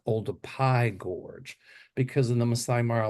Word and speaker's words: Olduvai Gorge: was going to the Olduvai Gorge. It actually is pronounced Oldupai Gorge, because in the Masai Mara language uh they don't have a P sound, so they make it a V.